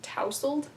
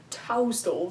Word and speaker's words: tousled: reassuring smile, and, okay, apparently this word is pronounced tousled. Who the heck says that, ever? Tussled. I What know. should I say? That's what I thought it was, and I googled it, and it's tousled, and I'm like, bruh.